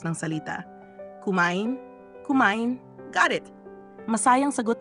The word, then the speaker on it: kumain: sabi ni ba ituro kay Olivia ang tamang pagbigkas ng salita kumain kumain got it masayang sagot ni Olivia tila